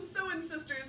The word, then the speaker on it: SewinSisters: on someone's sister's channel it's not hard to pronounce on sew and sisters cosplay it's sewing without the g it's like this stay